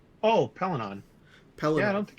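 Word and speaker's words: Pellaeon: Pelinon.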